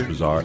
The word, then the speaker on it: Broussard: Yeah, Chris Broussard.